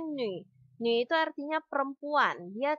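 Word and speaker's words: 女: Tulisan ini bacanya nü.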